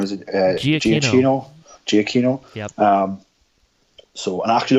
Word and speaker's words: Giacchino: by how do you pronounce his name? Is it Giacchino. Giacchino.